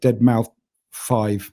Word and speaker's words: deadmau5: or as he said on the show uh deadmau5 yeah is the correct pronunciation of his name which i hadn't heard